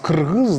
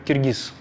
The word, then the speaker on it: кыргыз: мы уже независимая страна, называйте нас кыргыз, да, и некоторые говорят: мы не можем на русском произносить букву «и», да, это невозможно там. Мы не можем говорить «кыргыз», нам удобнее говорить «киргиз».